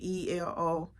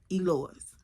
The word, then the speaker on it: Eloise: that everybody could pronounce E Lewis everybody could pronounce that that was simple easy but then again I always came across people who pronounced the Eloise and Eloise was on my